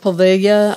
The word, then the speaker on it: Poveglia: I believe it's pronounced Poveglia.